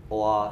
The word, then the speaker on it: aura: ایک تو یہ فرانسیسی اصطلاح ہے اور اس کا کچھ تلفظ ایسا ہے کہ اس میں کہیں آر جو ہے وہ سائلنٹ بھی ہے، اوا اس طرح۔ تو بنیادی معنی تو